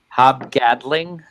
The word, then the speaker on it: Hob Gadling: I mean, from my standpoint, when I took a look at that fellow, how does he pronounce his name? Hob what? Was it again? Hob Gadling.